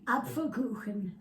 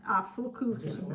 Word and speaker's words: Apfelkuchen: Apfelkuchen. Apfelkuchen.